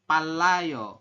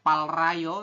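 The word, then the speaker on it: 빨라요: Kalau yang ini palayo, bukan palrayo, tapi dibacanya adalah palayo. Kenapa Sam ada real di akhir bertemu dengan real lagi di sampingnya? Keduanya dibaca L.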